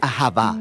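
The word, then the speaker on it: אהבה: Se pronuncia ahavá.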